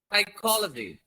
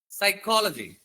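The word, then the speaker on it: psychology: సైకాలజీ. P silent ఇక్కడ కదా. ఫిజికాలజీ అందరు. సైకాలజీ.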